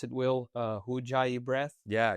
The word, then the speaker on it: Ujjayi: And I started doing that, and I learned about the, how do you pronounce it, Will? Ujjayi breath. Yeah, Ujjayi.